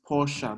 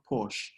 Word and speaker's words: Porsche: And if you didn't know, the name is Porsche, not Porsche.